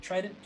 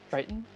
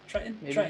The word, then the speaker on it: Triton: how to say it try it tried it triton is that one triton there you go his son is atlantis